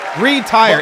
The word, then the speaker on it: retire: and with dignity retire retire is retire it's two syllables retire people it's two retire I got to